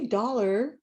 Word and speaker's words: dollar: so we have dollar so we say dollar but it's a so it's a schwa sound it's like upside down e i like to go